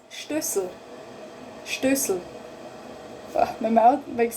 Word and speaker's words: Stößel: But in German it's Stößel. Stößel. Oh, my mouth makes this funny movement, huh? Stößel. Stößel. Sl. Sl. So you actually have S-E-L again, Sel, Stößel, but you don't say that here. Say Stößel.